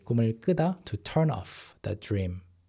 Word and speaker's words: 꿈을 끄다: But here, 꿈을 끄다. A subtle change in pronunciation, right? 꿈을 꾸다, 꿈을 끄다. So you have to listen very carefully.